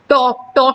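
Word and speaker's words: talk: टॉक में L silent है।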